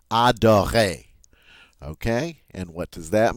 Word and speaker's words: adorer: Whenever we talk about verbs, if the verb ends in ER, all right, the ER is pronounced A. We don't pronounce the R. We just say A. Adorer.